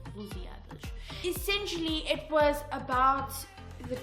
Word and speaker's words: Lusíadas: Well, guys, this man was famous for writing a poem about Portugal called Os Lusíadas. Okay, I hope I'm pronouncing that correctly, but I believe it's Lusíadas.